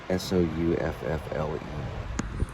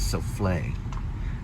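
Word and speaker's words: soufflé: The word means, well, the word is pronounced as souffle, but it also can be pronounced souffle.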